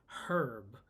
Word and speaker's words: herb: speaks british english and in britain they pronounce the h they say herb with the sound so she says a